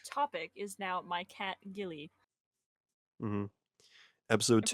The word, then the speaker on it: Ghillie: This episode's topic is now my cat Gilly. Hmm. Episode And for 2, anyone the curious, Gillying. the Gilly episode. For anyone curious, that's spelled Ghillie. Because people always tend to spell it wrong.